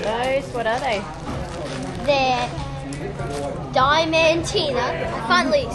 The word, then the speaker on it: Diamantina: They're Diamantina.